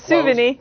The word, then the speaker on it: Sauvigny: Sauvigny, did I say it right? Close, Sauvigny.